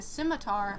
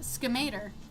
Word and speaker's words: scimitar: Uh, and instead of saying a scimitar, I said uh I said uh schemat.